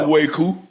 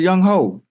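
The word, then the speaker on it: Younghoe Koo: It's spelled, y'all know how it's spelled. What's his name? Young Way. Young Way what? Young Way-Koo.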